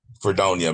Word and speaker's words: Fredonia: Fredonia.